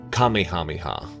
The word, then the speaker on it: Kamehameha: The king we're referring to is King Kamehameha. The Dragon Ball Z attack is pronounced more like Kamehameha.